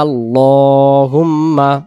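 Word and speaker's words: اللَّهُمَّ: সুবহানাকা আল্লাহুম্মা।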